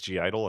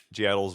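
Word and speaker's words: (G)I-DLE: So I think it's G Idol. I think that's how you say it. It's like G I and an apostrophe DLE. G Idol's one.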